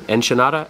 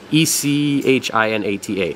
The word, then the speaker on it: echinata: a farm this is acropora and I'm gonna butcher the name enchinada enchilada echinata econada e-c-h-i-n-a-t-a echinata this is a weird one this is